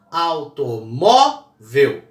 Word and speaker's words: automóvel: Então, por exemplo, automóvel tem acento, né? Penúltima sílaba é a mais forte, automóvel.